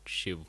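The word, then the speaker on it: शिव: asks what is Shiv, I am not saying Shiva, though it is spelled like that, because you should know that the real actual pronunciation is Shiv and not Shiva.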